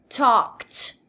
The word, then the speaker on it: talked: O E não tem som e o D tem som de T também. Talked.